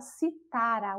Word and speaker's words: citara: Mas quando ela perde aí a sílaba tônica do si, né? Passa para outra sílaba, no caso aí para o tá, e ela passa a ser paroxítona, ela passa a ser um verbo, porque ela passa a ser a palavra citara, o verbo do verbo citar.